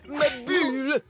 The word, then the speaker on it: Maboule: Édouard ma boule. Ça se prononce ma bulle.